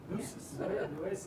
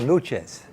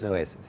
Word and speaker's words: Nueces: Because when I said it, it's called Nuches. Nuches, and so I says, hey, and you said that a lot of people have a hard time pronouncing it. That's right. So I figured let's throw it out to the huge audience out here and see if they can do it. So it is Nueces, right? Correct.